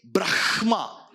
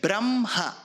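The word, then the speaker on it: ब्रह्म: Same is the case with Brahma. You will write ha, half first, ma later. But you don't say Brahma. You say Brahma.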